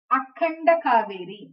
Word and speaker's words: Akhanda Cauvery: So the typical Tamil word is Aganda Cauvery. I can't exactly say here. Here it is. If you want to pronounce it, Akhanda Cauvery, expanded, widened.